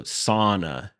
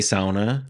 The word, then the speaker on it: sauna: pretty early they mentioned that the pronunciation is pronounced like Lana oh so sauna you know so that error in pronunciation probably